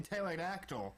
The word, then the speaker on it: pterodactyl: How about the P in pterodactyl?